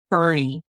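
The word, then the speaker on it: Boerne: And Bernie, is that the way you pronounced? So, it actually looks like born with me. It's B O E R N E and it's called Bernie.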